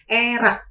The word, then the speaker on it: ERACS: Kita sebut sebagai ERAK, pakai C dan tambahin S. ERAK sendiri itu merupakan Enhanced Recovery After Surgery.